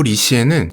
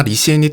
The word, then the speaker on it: 李现: 그러나 리시엔이 태어나자마자 곧바로 비가 그치고 태양이 떴으며 리시엔의 부모님은 태양처럼 주변에 따뜻함을 전하는 사람이라는 뜻을 담아 아들의 이름에 해가 뜨다라는 뜻을 가지고 있는 현, 중국어 발음으로는 시엔이라고 지어줍니다.